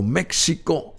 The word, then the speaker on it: México: a veces muy difícil porque decimos México con j pero es México con x y el símbolo de